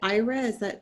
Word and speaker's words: Ira: So we have, is it Ira? Am I pronouncing that correctly? That's correct.